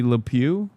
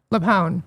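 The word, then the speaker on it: LuPone: Why are people mad at Patty Lew? Leone.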